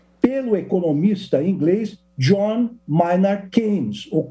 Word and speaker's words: Keynes: O keynesianismo corresponde à teoria econômica desenvolvida pelo economista inglês John Maynard Keynes, ou Keynes, segundo alguns pronunciam, esse pensamento, essa teoria foi veiculada em